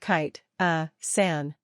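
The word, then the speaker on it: chitosan: special vitamin supplement stores for the record it's pronounced kite a San part three seeking medical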